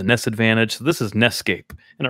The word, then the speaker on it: NEScape: Advantage so this is ncape and it rhymes with Escape so oh the correct